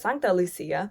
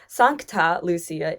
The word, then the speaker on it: Sankta Lucia: Now you notice earlier I said Sankta Lucia. Sankta Lucia is the Swedish pronunciation, but the proper pronunciation